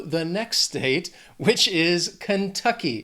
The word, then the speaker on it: Kentucky: So let's just keep driving on through to the next state, which is Kentucky. This word has 3 syllables. Stress is on that second syllable. Kentucky. Kentucky. The next state, Louisiana.